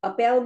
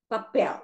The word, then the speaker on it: papel: So there is stress on the second syllable because it ends with a L.